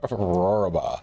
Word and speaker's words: Rohrabaugh: Yeah, so I always try to tell people it's the sound that a lion makes as it eats a sheep, or roar and a baa. Rohrabaugh.